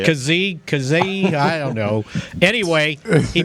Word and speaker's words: Kazee: I saw where DeMonte KZ, is that how I say it, Bill? Yes. That's how you say it. I don't know if it's right or not. All right. That's how you say it. Kazee, I don't know.